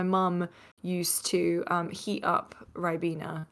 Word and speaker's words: Ribena: Games Master at MC Fixer says, "Ask her when me and her will be drinking Rabina? Is that how you pronounce it? Ribena.